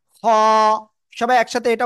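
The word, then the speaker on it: خاء: আমরা যেটা শিখছি এইটা এই অক্ষরটা গলার ওই কি বলে শেষ ভাগ থেকে আমরা উচ্চারণ করব এবং মোটা আওয়াজে এক আলিফ টান হবে খ সবাই একসাথে এটা উচ্চারণ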